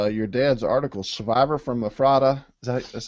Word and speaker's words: Ephrata: So why don't you pronounce it for David and me? It's Ephrata.